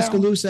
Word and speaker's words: Tuscaloosa: how do you pronounce it? Tuscaloosa, Alabama? Tuscaloosa, Alabama.